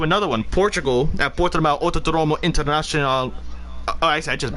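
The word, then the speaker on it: Autódromo: on, Autodromo. Autodromo. Jesus, you say you you don't really pronounce the D. You say like th, No. like you have a lisp.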